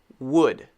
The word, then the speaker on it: wood: Catch the sound and release the sound, like this. It's sort of like pushing it out with your lips. So you make sure that your mouth is really doing something. So the correct pronunciation of this word is wood. Wood. Wood. Look at my mouth.